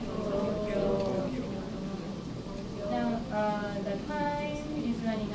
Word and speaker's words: Tokyo: Repeat after me. Tokyo, Tokyo, Tokyo. So you won't say Tokyo now. Tokyo.